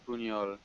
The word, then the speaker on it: Buñol: And Uno, Uo, I don't know how to pronounce, Alright, it's Buñol.